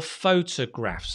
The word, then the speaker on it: photographs: say photos photographs photographs so the stress is on the foe so therefore the t o becomes not top but again the stress on the foe you make it a bit longer right photographs yep photographs and